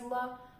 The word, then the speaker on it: ло: L for masculine, la for feminine, lo, which is pronounced again as la, for neuter, and li for plural.